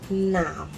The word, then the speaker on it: 男: Nam. Male. Human male, not letter male. Okay. And his brother, lamb. Lamb. Blue, the color blue. Nam is the one with a nasal sound.